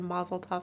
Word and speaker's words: mazel tov: i say mazel tov i think i said mazel tov cocktail baby did i say that too no